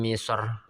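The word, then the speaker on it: مصر: Itu huruf yang bersukun tersebut berupa huruf istila. Maka ra dibaca tebal. Contoh Mim misor. Ainal qithor. Nah. Tho. Dan sho ya. Ainal qithor, mim misor, tho itu huruf istila. Kemudian sho, mim misor itu juga huruf istila. Maka ra nya dia eee tebal.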